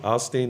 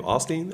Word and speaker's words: Osteen: the hip hop Joel Osteen that's what I see in your future for at a crystal ball I'd be like you're kind of the hip hop that's how you say his name Osteen Osteen oh something yeah